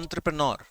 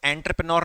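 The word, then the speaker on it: entrepreneur: युवा उद्यमी, उद्यमी का मतलब समझते हो, अंग्रेजी में कहते हैं एंटरप्रेन्योर। इसको एंटरप्रेन्योर नहीं बोल के अंग्रेजी में सही प्रोनाउंसिएशन इसका है एंटरप्रेन्योर, उद्यमी।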